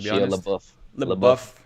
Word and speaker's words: LaBeouf: LaBeouf, yeah, because he's kind of buff.